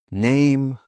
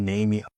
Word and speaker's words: name: Name. Like. Ride. Silent E. Okay, not ridey, likey, namey. Hope, name, like, ride.